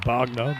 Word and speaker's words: Wagner: good line of length from wagner which is definitely pronounced bagner by the way we got into that with her it's not italian and uh just tap